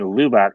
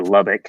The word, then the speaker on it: Lubbock: oh yeah anybody know yep that's the year i was born i studied architecture in lubak texas or lubbock depending how you pronounce it here's one that might help us